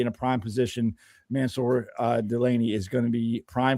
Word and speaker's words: Delane: Delane.